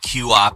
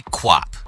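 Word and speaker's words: QWOP: how to pronounce it i've called it q-op in the past but it's apparently kwop kwop is a very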